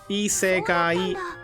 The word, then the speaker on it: isekai: That's the that's the four syllables. Isekai.